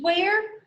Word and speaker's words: where: part of the word you would probably expect these letters to be pronounced but they're just pronounced er so when you read where make sure to remember to pronounce the letters w h as what and the letters e r e as er where but when you write